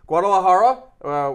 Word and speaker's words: Guadalajara: about eight hours before it's gonna be in Guadalajara did I get that pronunciation right Ronnie yeah okay yes thank you Guadalajara which canoe hasn't fought since 2011.